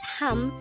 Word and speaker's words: 합: last three syllables hamnida the third syllable hap is formed from the combination of the a and b sound even though it has a v of sound at its ending it is pronounced as ham since it is followed by